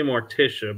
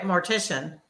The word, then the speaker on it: mortician: it is it because I keep wanting to say mortia but it's not mortia like mortia the um Undertaker person right but you were right mortician oh okay yeah that